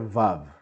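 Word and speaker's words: ו: And whenever you have a vav with a dot to the left, it's u. So, ho, ho, ho. You see, you mix both sounds. The hey and the vav with the dot, which is a o.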